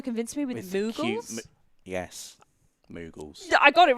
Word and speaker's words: Moogle: Yes, Moogles.